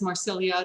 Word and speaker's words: Marsilia: Marsilia is Marsilia. That's actually how it's pronounced.